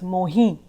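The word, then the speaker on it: मोहिं: Again, the M is silent, it's Mohi.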